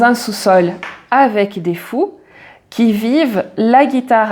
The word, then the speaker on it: qui vivent: j'ai rendez-vous dans un sous-sol avec des fous qui vivent la guitare à la main du soir au matin alors ici tu as plusieurs choses intéressantes qui vivent alors ne prononce jamais qui vivant quand tu as un verbe et quand il